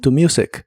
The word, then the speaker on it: good: usarás la frase look good que significa verse bien la doble o de look y la doble o de good se pronuncian como si fueran una u corta y explosiva look good look good y usaremos